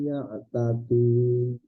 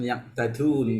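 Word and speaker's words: يعتدون: Dzalika bima asaw wa kanu ya'tadun. Nah, ya saya lupa ya. Jangan yaqtadun ya. Perbaiki pengucapan huruf dal ya. Ya, masih ada dialek dari Slemannya itu ya, tadun. Dikurangi ya.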